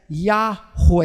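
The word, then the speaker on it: Yahweh: os judeus nem pronunciavam nós não sabemos direito como deveria ser pronunciado essa palavra que a soletrada com 4 letras consoantes e provavelmente a pronúncia correta seria yahoo é é é o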